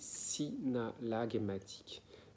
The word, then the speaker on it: synallagmatique: dans le move n'est absolument pas compris c'est synallagmatique ça s'écrit s y est n'a de zèle à